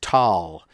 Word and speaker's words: Tal: One of them came from a certain valley, and in German, a valley is called a Tal, usually spelled Thal or Tal, and it's pronounced Tal.